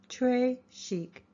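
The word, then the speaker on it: très chic: bracelet Trish chic you say it like this Trey Chic it means very fancy and the gravy is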